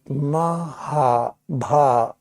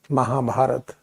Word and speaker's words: Mahabharata: Mahabharata means, Maha means greatest, Bharat means this is how to pronounce correctly Mahabharata, Mahabharata.